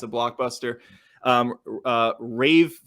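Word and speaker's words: Ralph: a blockbuster um uh Rave finds is that how you say his name right Ray finds yeah Ray or Rave I think it's Ray Ray it's spelled like Ari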